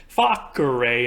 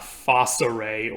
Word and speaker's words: facere: By the way, side note, all C's in Latin are hard C's. They always sound like a K and not an S, and that's why I'm pronouncing it facere and not facere or something like that.